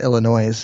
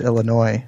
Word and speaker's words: Illinois: It's not Illinois. It's Illinois, and Myers isn't Myers. It's Meyer. So well, I know. The S is silent.